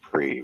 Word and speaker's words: prix: They pronounce prix, which is French for prize.